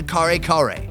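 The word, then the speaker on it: kare-kare: The very first thing I wanted to try is the kare kare.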